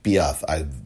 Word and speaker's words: Piaf: You remember Marion Cotillard from France, who played Edith Piaf, or Edith Piaf, the proper pronunciation of the French legend.